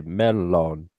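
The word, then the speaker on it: mellon: of modern Finnish um in fin in The Finnish language the uh double letters are pronounced twice I found that out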